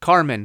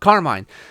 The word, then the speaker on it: Carmine: Or Carmen, however you want to pronounce it, but Carmine.